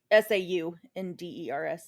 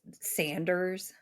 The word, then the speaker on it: Saunders: SAUNDERS. Oh, okay. I just because like this Sanders, but Hmm. then they're like, no, no, it's pronounced Saunders.